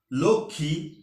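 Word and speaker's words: লক্ষ্মী: উচ্চারণের চতুর্থ নিয়মটি হচ্ছে যদি যুক্ত ব্যঞ্জন বর্ণের সাথে ম ফলা যুক্ত হয় তাহলে ম ফলার উচ্চারণ হবে না যেমন সূক্ষ লক্ষী লক্ষণ ইত্যাদি ম ফলা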